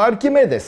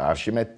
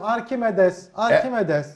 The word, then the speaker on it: Arkimedes: Ama Arkimedes adamın adı, Arşimet değil. Fransızlar onu Arşimet diye okuyor.